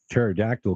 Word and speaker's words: pterodactyl: you hear a a pterodactyl going to the bathroom because the p is silent spelled p PT yeah